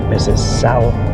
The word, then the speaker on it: Mississauga: I just had to pronounce it because it was Sauga, like Mississippi, but Mississauga.